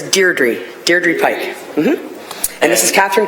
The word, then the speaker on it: Deirdre: Okay, I'd like to call upon Deidre Pike and Kathleen Kalinowski. And have I pronounced their names wrong?